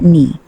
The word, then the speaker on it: knee: Knee, silent K, pronounced knee.